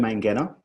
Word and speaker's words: Mangena: So I'm Mangena. That's hard G, not a soft G.